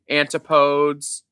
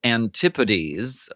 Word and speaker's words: Antipodes: Any discourse, discharge, antipodes? Sparkling water of the week is a New Zealand variety called Antipodes or Antipodes is the sort of vulgar pronunciation.